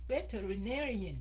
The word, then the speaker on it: veterinarian: Năm âm cả. Mình có năm cái âm. Veterinarian. Là veterinarian. Cô đọc là veterinarian. Cô đọc có bốn âm thôi.